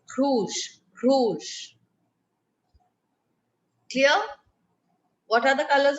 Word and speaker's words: rouge: like that so what it is it's through rouge clear what are the colors of the french